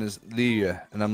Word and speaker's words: Liyue: It's when we first started doing it, they were like, all right, the pronunciation is Liyue.